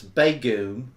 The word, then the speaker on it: Begum: it okay JD says it's not bagum it's bagum we have to say